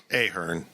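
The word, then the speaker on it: Ahearn: old case Staters that it's a Hearn name was Mike aarn and then L Krueger does my podcast and calls it Ahern I'm like oh crap I didn't want I didn't I wanted to say it right I couldn't remember which one it's it's regarded now as aharn mhm but I'm pretty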